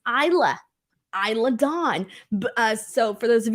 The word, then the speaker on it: Isla Dawn: and Isla Dawn now Michael Cole kept saying her name wrong uh it's Isla Isla Don uh so for those